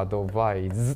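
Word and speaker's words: advise: こいですねで発音はアドバイスに対してはい同士の場合はアドバイズってなるよでアクセントはこいつも後ろアドバイスだよっていうの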